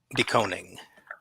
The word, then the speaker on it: DeKoning: Doning.